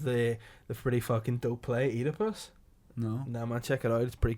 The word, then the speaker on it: Oedipus: No, Oedipus is his name. No, it's Oedipus. It's not piss. It's P-U-S.